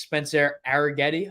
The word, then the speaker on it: Arrighetti: it, going up against Spencer Arrighetti, I believe is how you pronounce his last name.